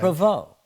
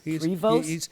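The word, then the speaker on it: Prévost: Provo. Now, if we lived in Canada, they would pronounce it Provo. They don't pronounce the ST.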